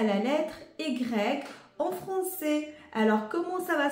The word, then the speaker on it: ي: va se prononcer ye ça se prononce comme y de le mot le prénom de Yanis ya ya Yanis ou de le mot par exemple yoga yo yo yoga on entend bien le